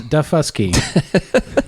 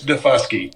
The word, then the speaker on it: Daufuskie: I just got to make sure I don't mispronounce this one. It is Daufuskie. You got to be careful with that one. I know. That's what I'm saying, Tony. So, Tony, can you verify the pronunciation? It's Daufuskie.